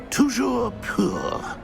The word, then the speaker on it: Toujours pur: Toujours pur.